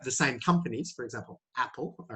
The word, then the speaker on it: Apple: We say Apple, Nike, all these types of things. Yeah. So your pronunciation of Apple was a little bit more ah. We want to use that ah.